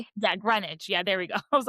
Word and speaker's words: Greenwich: And then he gets invited to like their boating outing in Greenidge or I don't know, I might be saying it wrong, but and they're just going on their maybe. Yeah, Greenwich.